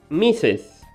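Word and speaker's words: Mrs.: a woman okay and this is going to be pronounced misses for example marge is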